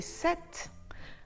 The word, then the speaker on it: sept: Et SEPT: la lettre P à l'intérieur du mot est muette. On ne dit pas "sept" comme dans le mot septembre (September), on dit sept.